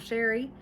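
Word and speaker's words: Chere: My name is Sherry and that is spelled C H E R E. It is spelled a little fancy but pronounced plain old Sherry.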